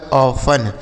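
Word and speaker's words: often: इसे पढ़ा जाता है ऑफन। ओ एफ टी ई एन। इसे पढ़ा जाएगा बच्चों ऑफन। देखिए यहां पर जो टी है ना यह साइलेंट है। इसको नहीं पढ़ा जाएगा।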